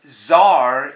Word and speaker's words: tsar: silent B the fascinating Tsar is secretly part check c c is for tsar c ZAR and he's part of